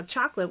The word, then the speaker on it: chocolate: shock and then chocolate you could talk about how chocolate we don't say the middle syllable most people chocolate chocolate lit you can